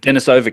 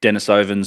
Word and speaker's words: Denisova: It's weird because it's a Russian word, but like it's like Denisova cave, but I've heard people say Denisovans or Denisovans.